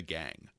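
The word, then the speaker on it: gangue: oppressed underclass called The Gang pronounced like gang but spelled g n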